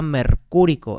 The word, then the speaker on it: mercúrico: Entonces, en la tradicional diríamos que este es el óxido y sería mercúrico, acento en la U.